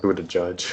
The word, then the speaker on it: Buttigieg: I think it's like Buddha Judge or something like that.